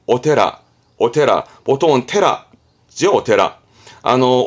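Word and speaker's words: お寺: 샤지 샤지이지만 많이 쓰진 않습니다 뜻으로 많이 쓰죠 발음은 오테라 오테라 보통은 테라죠 오테라 아노 오부 오테라 쓰는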